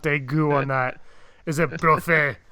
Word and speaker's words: Brophy: Is it Brophy? It's a trophy with a B.